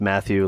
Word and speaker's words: Mathieu: my all-time favorite so my name is pronounced Matthew like the you know the Apostle and then um and then like yepy so I was in